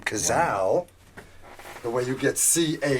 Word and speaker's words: Cazal: And that's how you got the name Cazal. Oh, wow. That was a lot of, people call it Cazali or Kazis or whatever back then also, but the real deal